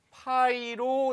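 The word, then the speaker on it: π: 원주율이라는 건 원에서 지름의 길이에 대한 원주의 비의 값을 말하며 기호로는 파이로 나타냅니다. 여기서부터 새롭게 배우는 거예요. 요거 뭐라고 읽는다고요? 파이. 여러분들 좋아하는 파이.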